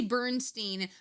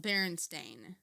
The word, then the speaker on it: Berenstain: You say Bernstein, but I say it the way it's spelled, Berenstain. So Bear and Stain. It's Berenstain.